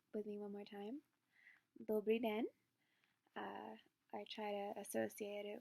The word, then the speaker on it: Dobrý den: Dobrý den. I try to associate it with a little bit of a hand wave. That's how I learn. I don't know how you guys learn, but hello. Dobrý den.